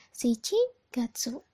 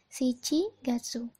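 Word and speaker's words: 七月: di ke pertama lagi di sini ada tujuh dan Gatsu dibacanya apa shichigatsu ya shichigatsu dan yang kedua ada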